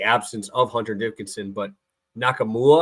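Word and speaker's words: Nkamhoua: of Hunter Dickinson but nakam mua I think is how you say it dude is a stud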